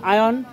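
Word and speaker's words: iron: আর যখন আমরা নাট বলতাম আয়ন, আয়ান আমরা করি আয়রন, ভুল উচ্চারণ, এটা হবে আয়ান।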